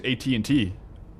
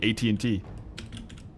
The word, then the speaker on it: AT&T: How we say it here is AT&T. Like at then like a letter N and then T. AT&T.